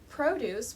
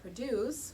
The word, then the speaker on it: produce: two completely different pronunciations produce with the stress on the first syllable refers to vegetables whereas produce with the stress on